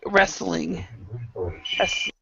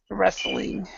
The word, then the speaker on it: wrestling: yeah yeah you're right wrestling wrestling wrestling so in this one you actually pronounce the L so rest but you don't actually say the T So wrestling wrestling yeah